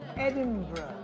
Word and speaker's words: Edinburgh: It's pronounced Edinburgh.